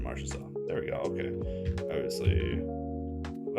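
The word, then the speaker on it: Marchessault: Is that Marcho Maro? It is Jonathan Marshaw.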